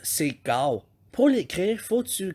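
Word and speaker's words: 九: Le 9, c'est gao.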